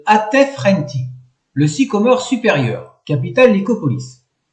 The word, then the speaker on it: Atef-Renti: Le numéro 13 se prononce Atef-Renti, le sycomore supérieur, capitale Lycopolis.